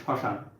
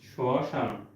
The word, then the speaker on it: শ্মশান: শব্দের শুরুতে একটা ব্যঞ্জন বর্ণ থাকবে এবং সেই ব্যঞ্জন বর্ণের সঙ্গে মফলা যদি যুক্ত হয় ওই মফলার উচ্চারণটা হয় না। যেমন মনে করো যে শ্মশান শ্মশান।